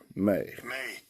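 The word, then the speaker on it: μή: May. Spelled M-A, or pronounced M-A-Y, and spelled M-E, okay?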